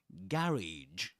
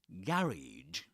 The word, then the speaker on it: garage: So, um, one of the main differences between the UK pronunciations and the American pronunciation is where the the main accent falls, you know, where where the main accent is located, you know, um, in the British pronunciations, it's always on the first syllable. Garage. Garage. Those both in both we get the same sound, the same vowel sound. A a as in cats.